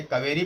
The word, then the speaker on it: cavalry: फिर है कैवेलरी, CAVALRY। कैवेलरी means होता है, इसे कावेरी पढ़ेंगे आप, कावेरी पढ़ेंगे क्योंकि एल साइलेंट है यहाँ पे।